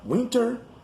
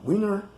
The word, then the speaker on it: winter: ago a moment ago the t in the words moment and lieutenant is not pronounced it's very common in words that have n t in the end or even in the middle like winter or winter center or center and moment or moment and colonel jessup goes